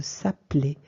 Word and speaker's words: s'appeler: français, c'est le verbe s'appeler. Alors, vous voyez que moi, ce E, je ne l'ai même pas prononcé.